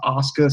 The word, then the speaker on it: Asuka: it looks like it's spelled Asuka but it's pronounced Asuka so yeah I guess that's why threw me